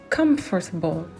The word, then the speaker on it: comfortable: En anglais, confortable, c'est comfortable. Très bien. Comfortable. Là, à la fin, si vous voyez cette terminaison A-B-L-E, on va sûrement le accentuer au début.